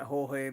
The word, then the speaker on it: Jorge: It's pronounced something like Jorge, but it's written George.